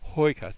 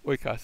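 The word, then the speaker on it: οἶκος: the same place, but I could have gone hoikos, but that wouldn't be a word. Oikos is my word, and it's the word for house.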